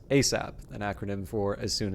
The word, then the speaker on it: ASAP: response is yes sir asap pronounced asap an acronym for as